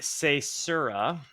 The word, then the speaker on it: caesura: A caesura.